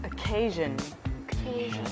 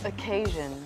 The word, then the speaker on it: occasion: sorry I don't understand it is pronounced as occasion occasion occasion so even though it is spelled with